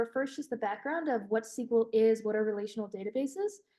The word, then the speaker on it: SQL: me pronounce it but it's SQL as in the sequel to a movie but it stands for